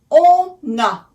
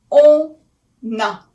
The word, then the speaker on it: on a: So on a, it's as if it were a one word, because a is just a vowel and on ends with n. So we make a liaison. All right? It's like a word that is connected together.